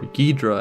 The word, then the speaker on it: Ghidorah: Take Me to Your Leader sees Doom take on the character of King Ghidorah. Ghidorah, or Ghidra as Doom pronounces it, is a recurring antagonist